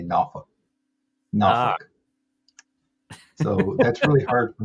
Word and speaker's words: Norfolk: to the Hampton Roads area, which has like Norfolk and all that, right?